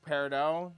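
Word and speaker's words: peridot: It can be paradot. It can be whatever. Steven Universe can suck my nuts because they all say paradot. Paradot. Paradot. But you know, most people in the gem industry say parado.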